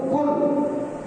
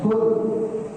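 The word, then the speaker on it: قل: Kemudian kul jangan sampai keliru kalau bacanya pakai klan. Pakai kaf artinya beda. Qul dari kah ini asalnya akala akalaulu yaulu aklan. Akilun kun itu artinya makan ya toh? Beda antara huruf dan kaf.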